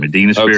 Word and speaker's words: Medina Spirit: The Kentucky Derby winner, Medina Spirit. Is that how you say it? Yes, brother. Medina Spirit.